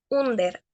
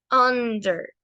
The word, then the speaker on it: under: Entonces, la palabra que vemos acá al lado de la UH no es under, es under, under, ¿ok? La U suena parecido a una A, A, A, under.